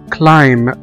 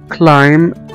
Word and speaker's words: climb: وزي كمان كلمة climb، climb او يتسلق، climb climb climb، هنا كمان ما نطقناش حرف البي.